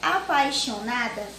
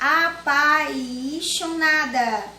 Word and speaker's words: apaixonada: É porque ele recebe esse nome porque ela é pronunciada com menos intensidade. Não tem a mesma intensidade da vogal A. Apaixonada. Apaixonada. A gente não consegue, se não falar devagar, a gente não consegue identificar que existe aí o I, certo?